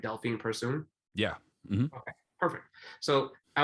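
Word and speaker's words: Delfine Persoon: her fight with um tell me if i'm pronouncing my name right delphine pursuing yeah okay perfect so i was there for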